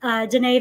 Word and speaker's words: Danae: Yeah, I always laugh because it's like I call her Danae that doesn't rhyme with Janet because it's spelled the same.